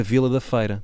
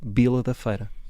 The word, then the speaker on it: Vila da Feira: E não há ninguém ali daquela zona que diga Vila da Feira. Toda a gente diz Bila da Feira. Que é assim que se pronuncia.